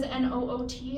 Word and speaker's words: Noot: My last name is Noot, and it looks like Newt, and it rhymes with boot. But it's not. It's Dutch. So It's Sounds like- note, like a music note. And in the Netherlands, it's actually a nut.